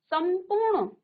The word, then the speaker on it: संपूर्ण: ऐसे ही आपने यहाँ पर क्या लिखा, समधन पूर्ण, तो देखो सम, संपूर्ण, उच्चारण किसका आ रहा है, आधा मौ का, संपूर्ण।